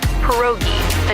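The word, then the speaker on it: pierogi: It's pronounced perogi.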